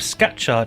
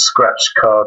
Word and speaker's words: Scatchard: I'm very good, thanks, and I'm even better and more impressed that you pronounced my surname correctly. So that's very good. Normally it's scratch card or scrapyard, so you've got it absolutely spot on, so that's a good start.